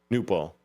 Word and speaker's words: Knueppel: I think the K is silent, but it's Knueppel. Newpel.